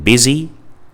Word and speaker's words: busy: I like in swim, U like in busy, Y like in system, UI like in build.